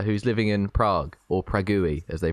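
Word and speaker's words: Praha: friend Amy uh who's living in Prague or pragi as they pronounce it over there you went toi just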